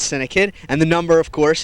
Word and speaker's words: CINEKYD: Now you can spell it c i ne ky dd. That's syndic.